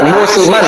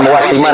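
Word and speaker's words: موسمًا: Musiman bukan muwasiman, salah bacanya itu.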